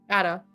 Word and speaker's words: Ada: Ada. Ada. Like Ada. adding, Like subtracting. add and then Yeah, you're- like add and then just add an Yeah.